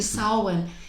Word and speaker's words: Samhain: earlier about, and it's, what is it? Samhain. Samhain. I never get that right. Because it's spelled Samhain. It is. Yeah. Thank you, Samhain.